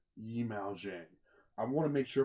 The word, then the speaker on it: Yimou Zhang: Yimou Zhang. Yimou Zhang. I want to make sure I pronounce his name right because he's an absolute genius.